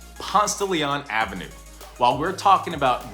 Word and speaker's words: Ponce de Leon: When pronouncing Ponce de Leon Avenue, forget everything you learned in Spanish class. It's known here as Ponce de Leon, or simply called Ponce.